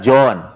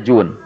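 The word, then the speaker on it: جون: Dzar al-ghifari yang bernama Jun Hai ditulisnya gym Wow dan Nun bisa kita baca Ajun bisa kita baca John bisa kita baca John tapi umumnya dibacanya Jun Jun itu dahulu bekerja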